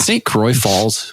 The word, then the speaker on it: St. Croix Falls: Berger from fireworks forever is it St Croy Falls Wisconsin am I pronouncing that right okay that is correct have you lived there